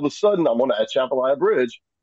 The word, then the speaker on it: Atchafalaya: underneath I'm not going to even try to pronounce the name of it, Basin Bridge. Jody? Atchafalaya Basin Bridge.